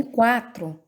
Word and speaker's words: quatro: Ah, e também quatro, pronunciamos o U.